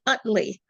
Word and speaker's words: Utley: And is it pronounced, how do you say your last name? Our last name is Utley. Utley.